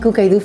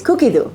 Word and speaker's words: Cookidoo: I've been saying Cookidoo forever and I've been corrected recently. Me and a lot of my friends, we have all been corrected. It's Cookidoo. Okay, so I'll start saying it right.